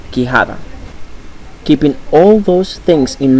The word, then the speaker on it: quijada: In Spanish, the U sound is not pronounced. Let's take a look at some examples: queso and quijada.